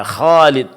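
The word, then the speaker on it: خالد: Sehingga huruf K yang seharusnya tebal ya sering dibaca tipis ya. Khalid. Khalid. Khalid harusnya khalid seharusnya khalid khannya di tebalkan.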